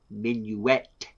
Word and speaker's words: Minuet: can you spell minuet i had to write it out phonetically because otherwise i would just be calling her minute the whole time i mean in fairness